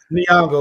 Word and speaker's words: Nyong'o: Nyong'o? Nyong'o, yes.